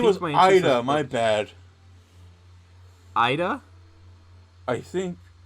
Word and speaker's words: Aida: I wasn't he he doesn't his name was Ida my bad Ida I think yeah his name was K Ida and they call him Ida I hav't seing